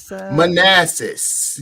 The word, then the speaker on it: Manassas: Manassas.